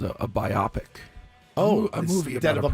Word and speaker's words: biopic: Oh, a movie instead about of a biopic. A biopic. I thought it was a biopic. And someone corrected me, maybe in my 40s. In your 40s? Yeah, that's not how it's pronounced.